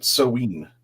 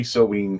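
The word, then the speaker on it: Samhain: Just to wrap up on this, that's how I've been pronouncing it, Soween in Wales.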